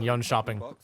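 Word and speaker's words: Jönköping: Let's take a look at her pick rate throughout the recent Rainbow Six tournament in Yun Shopping.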